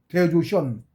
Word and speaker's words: 대조션: 그거 붙은 조도 조가 아니고 조야. 오가 아니고 요. 대조션. 선도 아니고 션.